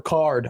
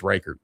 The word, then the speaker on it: Reichard: it Reichard or Ricard? I think it's Reichard. Okay. At least that's how the podcast people pronounce it.